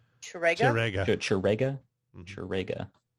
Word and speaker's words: Ch'Rega: You said Chirag was his name? Chirega? Chirega? Mhm. Chirega. Spell that.